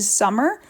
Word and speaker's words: Sommer: and there's no you it's mrs summer but it's spelled with an o and no s at the end um and also check